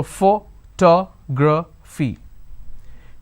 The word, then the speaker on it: photography: So how many vowel sounds do I have? 1, 2, 3 and 4. So photography. Please remember, this is where most of us make mistakes. Vowel sounds are equivalent to number of syllables. So we have 1, 2, 3, 4.